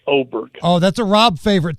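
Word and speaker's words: Åberg: It's spelled Aberg, but you pronounce it Oberg.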